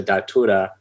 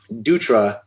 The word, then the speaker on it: Dutra: kashida and a japanese some japanese press wrote my name out as d-a-t-u-r-a so datura and i think it's because for whatever reason dutra is hard for them to pronounce so they spelled it as they would pronounce it so if you